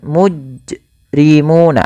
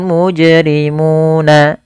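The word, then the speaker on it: مُجْرِمُونَ: qalqal atau bacaan qqal yaitu dia menambahkan Hamzah pada lafal jimnyato nah ini juga dia menambahkan Hamzah atau dia saktah Misalkan mujrimuna ada saktahnya padahal dia ketika melafalkan Qalqalah itu yaitu pantulkan saja secara langsung yoful mujrimuna y mujrimuna kemudian pfalmuna di sini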